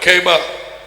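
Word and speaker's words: Kepha: Actually, the Hebrew pronunciation and but Keba, I've heard rabbis saying Keba.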